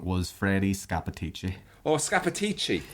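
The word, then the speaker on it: Scappaticci: It's Scanacci. The correct pronunciation was Freddie Scapatici.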